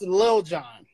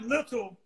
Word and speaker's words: Lil Jon: It's pronounced Lil Jon. Yeah, hey. It's not little. It's Lil.